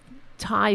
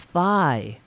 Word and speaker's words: Thai: descent is used to pronounce this Thai food as thigh to assess his dates